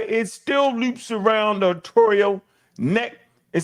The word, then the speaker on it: arterial: You said it right, arterial.